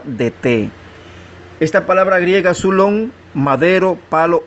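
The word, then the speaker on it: ξύλον: Es la G3586, se pronuncia sulón y significa madera, vara, garrote o árbol.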